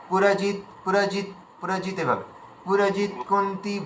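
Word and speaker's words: पुरुजित्: পুরজিৎ কুন্তি ভোজ হচ্ছে পুরজিৎ, একদম ডাইরেক্ট, এটা খুব স্পিডে বলবে। পুরজিৎ পুরজিৎ পুরজিৎ, এভাবে পুরজিৎ কুন্তি ভোজশ্চ শৈব্যশ্চ নরপুঙ্গবঃ।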